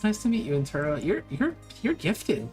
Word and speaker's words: Enturo: name name oh yeah my name is in Ino it rhymes with churos don't think about it too much well it's nice to meet you in turo you're you're you're gifted